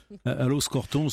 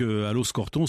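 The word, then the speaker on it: Aloxe-Corton: allons respecter sa volonté il faut partir d'aloxe corton à los alamos au pardon à loos corton ce sens que lorena martin qui prononce tous les os en eau va avoir un peu de mal à faire sa chronique je t aime surtout les x et les x sont des shows dit bruxelles on y bruxelles envoie en bourgogne on prononce pas les x ans le hic c'est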